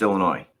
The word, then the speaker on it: Illinois: By the way, the state is pronounced Illinois.